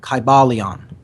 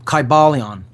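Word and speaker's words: Kybalion: take their time reading it read it slowly it's spelled k y b a l i o n kybaleon okay and ultimately this means the spirit of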